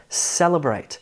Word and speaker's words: celebrate: Celebrate. This is called primary and secondary stress. Primary stress is actually on the third syllable. Secondary stress is on the first syllable.